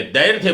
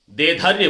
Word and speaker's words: दैर्घ्य: के ये पे लगेगी, लेकिन उच्चारण उसका ध से पहले दैर्घ्य बोलना है। विज्ञान के बहुत से विद्यार्थियों को मैंने सुना वो दैर्घ्य बोलते हैं, ध के बाद में रे को ले, गलत हो गया। दैर्घ्य नहीं, दैर्घ्य बोलना है। और धीरे धीरे उसका रूप आ गया, धैर्य बोलना शुरू कर दिया, तरंग धैर्य, दोनों ही उच्चारण अशुद्ध है।